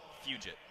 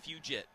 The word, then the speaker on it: Fugit: Zan Fugit. Fugit? Fugit. Fugit? Like fugitive, just Fugit.